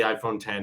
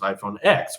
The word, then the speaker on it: iPhone X: Apple made everything so complicated and hard to understand that they're like, no, it's actually 10, but you only know that if you watch the commercials or the keynote.